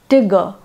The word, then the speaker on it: Tigger: Milne, the boy calls his pet tiger Tigger, Tigger, T-I-G-G-E-R, pronounced to rhyme with snigger, which takes away all terror from the animal.